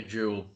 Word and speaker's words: joule: How's that pronounced? A joule.